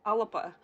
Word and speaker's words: Alba: It's spelled Alba, but it's pronounced Alaba and that is vowel